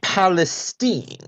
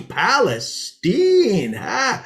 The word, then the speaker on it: Palestine: tonight mark great zeke but actually it's palestine oh well excuse me palestine so we're going with the hoity-toity pronunciation now are we well actually it's a good old texas pronunciation it's been that way